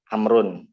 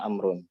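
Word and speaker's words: عمرو: Amrun. Makanya Amrun ada waw tapi tidak ada secara tulisan ada tapi tidak ada secara bacaan, kebalikannya. Ya, makanya Amrun yang mau kalau secara bacaan ya wawnya seakan-akan tidak ada.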